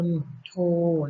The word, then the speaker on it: มณโฑ: ต่อ มา นะ คะ คำ ว่า มณโฑ อ่าน ว่า มน โทร นะ คะ ความ หมาย